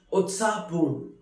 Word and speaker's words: उत्साहपूर्ण: Utsahpoon, which is pronounced as Utsahpoon, which means very excited, very lively.